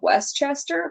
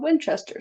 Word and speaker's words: Winchester: Occasionally, I heard it called Westchester, but I don't know why that is, because the house is always called Winchester. So, someone correct me if Yeah. I'm wrong. And um, it's spelled with an I, so why would they be saying Westchester? I don't know. I felt like maybe someone just said it wrong and something I was listening to.